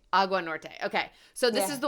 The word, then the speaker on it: Agua Norte: you say it I want it to be pronounced properly AUA Norte AUA Norte okay so this is the one I'm looking